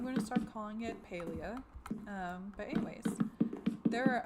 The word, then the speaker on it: Palia: Um, I think they already released it, but the way he pronounced it was Paleia, as in pale, and I've always called it Palia because I was thinking it was PAL. Apparently, that's wrong.